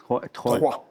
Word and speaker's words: Troyes: You were born in, I don't know how to say this, is Troyes. Troyes.